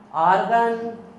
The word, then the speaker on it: आर्गन: Helium, neon, आर्गन या आर्गॉन बोल सकते हो, क्रिप्टॉन, जीनॉन, रेडॉन।